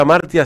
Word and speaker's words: Hamartia: Recuerden que Revista Amartya se escribe con H.